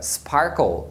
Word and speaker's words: sparkle: Só tem um detalhe, que se a primeira sílaba terminar na letra R, aí a letra A tem o som de R, porque a letra R